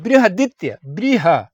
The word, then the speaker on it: बृहदित्य: सा है वो है बृहदित्य। बृह मतलब बृहस्पति, आप समझ सकते हैं। बृहदित्य, हा नहीं, ह, बृहदित्य। बृहदित्य, बृह आदित्य नहीं, बृहदित्य, बृहदित्य।